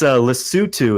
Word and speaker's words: Lesotho: so I'm very sad it's a list suit to is how you really pronounce it it's it's in in